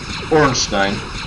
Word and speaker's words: Ornstein: That's a German name. Trust me, it's a German name. Ornstein.